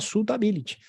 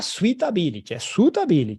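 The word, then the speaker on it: suitability: perfil do investidor que também se chama sulttability não vai me falar switter tá certo e é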